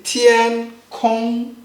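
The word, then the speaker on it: 天空: We say tiān tiān See, tiān kōng tiān See, tiān kōng tiān kōng Read after me.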